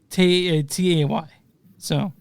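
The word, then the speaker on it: Tay's: It's spelled T-A-Y. So yeah, I want to make sure I'm getting this right. Yeah, it's Tays. I'm sorry, it's Tays.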